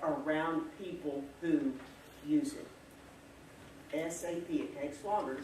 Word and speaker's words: SAP: that is sap and remember that's how you pronounce it too don't ever call it south because that marks you as not being very smart if you talk like that around people who use it sap it takes longer to say so get that